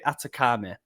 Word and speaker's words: Athekame: Zachary Atakame.